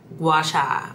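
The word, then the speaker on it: gua sha: That's why I've been really into my gash, not gi I know how to I know how to say it. Guasha. I've been really into my like gouacha routine, I guess you could say.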